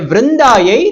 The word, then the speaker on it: ವೃಂದಾಯೈ: ನಮಃ ನೋಡಿ ಹೇಳ್ತಾ ಇದ್ದಾರೆ ವೃಂದಾಯೈ ತುಳಸಿ ದೇವ್ಯೈ ಆಕ್ಚುಲಿ ಈ ಉಚ್ಚಾರಣೆಯನ್ನು ಸರಿಯಾಗಿ ಮಾಡೋದು ಕಲಿಬೇಕು ನಾವು ವೃಂದ ವೃಂದಾಯೈ ಎಲ್ಲರೂ ಹೇಳಿ ಬೃಂದಾಯ ವೃಂದಾಯ